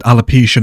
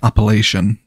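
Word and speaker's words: Appalachian: so good alopecia yeah i said alopecia mountains didn't i and it's actually pronounced appellation oh yeah that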